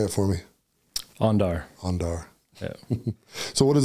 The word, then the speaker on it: Andar: Pronunciation, say it for me. Andar.